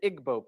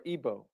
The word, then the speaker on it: Igbo: You have the Igbo people, or Igbo, pronounced either way.